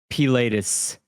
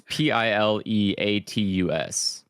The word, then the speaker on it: pileatus: So for bird heads, just as a heads up, my favorite is the Dryocopus pilatus. What? Pilatus? Exactly. You mean? I don't know. It's Pileatus.